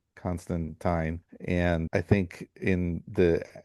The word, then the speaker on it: Constantine: character that he would emphasize that it was pronounced Constantine.